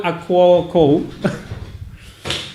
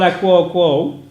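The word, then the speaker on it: Akouokou: I don't want to mispronounce a name. It's Paul Paul Akuoko. Paul Akuoko.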